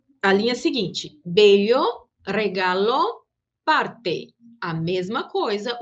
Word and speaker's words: parte: Em espanhol, não. O som do T, ele se mantém. Parte.